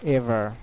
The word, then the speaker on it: ever: Because the final R, it won't be pronounced. So it will be silent.